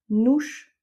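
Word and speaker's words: nos: parlent, le sujet, et le nouche qu'on a ici sans accent et qu'on va prononcer ou, c'est à qui l'action se réfère.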